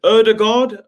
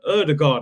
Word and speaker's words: Ødegaard: deal for martin ud erdogard erdogard i think that's how you pronounce it i'm still calling him older god but everyone's saying erdogard there you go big